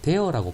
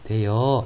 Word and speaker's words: 대어: 어간의 끝소리, 어미 첫소리가 모두 모음일 때 모음의 연세를 피하기 위해 반모음이 첨가되는 경우 무슨 이야기인가 하면 대어라고 발음해야 되는데 대여 이렇게 발음한다고요.